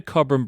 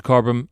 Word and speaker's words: Cobram: Um and I just wanted to mention that because I just shorten it to corbum. Aussie thing to do, right? We shorten everything to the first word or the first syllable.